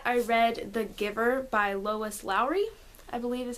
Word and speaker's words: Lois Lowry: Soon after that, I read The Giver by Lois Lowry, I believe is how it's said.